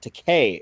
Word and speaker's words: George Takei: Is it George Takei or George Takai? I would say Takei. Takei. I think it's Takei. Takei. Okay. That's how you say it. It rhymes with okay.